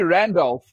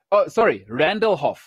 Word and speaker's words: Randallhoff: Alrighty, Randolph. Randallhoff. Sorry, I was saying your name wrong there.